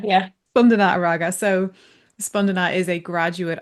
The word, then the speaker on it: Spandana Araga: Is that pronounced correctly, Spandana? Yeah, that's Yeah, correct. great. Spandana Araga. Yeah. Spandana Araga.